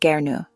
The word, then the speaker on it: gern: Here the waiter uses gern pronounced gnu which means with pleasure or gladly.